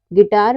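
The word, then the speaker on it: guitar: पर you silent है यानी कि यू के बाद अगर कोई भी वावेल्स आए ए ई आई ओ यू आए तो हमारा क्या होता है हमारा यू साइलेंट होता है यानी कि के बाद कोई भी वावेल्स आए तो हमारा यू वहां पर साइलेंट होता है अगला है लेटर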